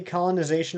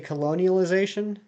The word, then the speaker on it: colonization: Weirdly enough, you never say colonization right. You always say colonialization.